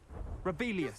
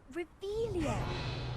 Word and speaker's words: Revelio: You're Rebellious. saying it wrong. Ugh, Revelio.